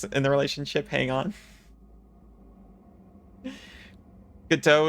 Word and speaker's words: Godot: Godot is the technically correct way to say it, but you're not fucking French, so you'll always call it Godot.